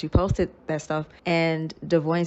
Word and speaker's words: Devoin: I mean, I really don't like mispronouncing his name. All these years, freaking Brianna says his name wrong, but the correct pronunciation I have learned is Devoin.